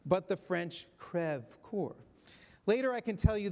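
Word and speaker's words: Creve Coeur: which Lok Dubois is located is pronounced not pronounced as we do Creve core but the French crev Corps later I can tell you the story about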